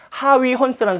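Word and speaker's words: Huygens: 그 원리를 얘기한 사람이 바로 하위 헌스라는 사람이에요. 우리 옛날에는 호이겐스라고도 불렀는데 요즘은 그 나라 말을 따라서 직접 어떻게 발음되는지를 따라서 하위 헌스라는 이름으로 사용하고 있고요.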